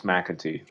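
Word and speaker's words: McEntee: um about john um is it we're going to pronounce it mackenty um john mcintyre i'm going to say mcatee okay i'm going to say i'm irish it's mcatee okay this is this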